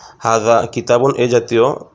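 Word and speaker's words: هذا: এখানে টান দিতে হবে, কিন্তু আসলে প্রকৃত শব্দের উচ্চারণে হায়ের পরে একটা আলিফ আছে, সেক্ষেত্রে আমাদেরকে এটা পড়তে হবে হাজা, যদিও লেখা আছে হাজা।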